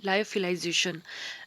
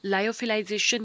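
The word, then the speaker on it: lyophilization: आज का मेरा टॉपिक है लायोफिलाइजेशन। लायोफिलाइजेशन या फिर लियोफिलाइजेशन या लियोफिलाइजेशन, इसको अलग तरीके से या कई तरीकों से प्रोनाउंस करा जाता है।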